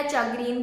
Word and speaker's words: chagrin: तो सेटा को बहुत पिला चाग्रीन चाग्रीन चाग्रीन एमिति भी कहंती, जोटा कि CHA would be pronounce as शी.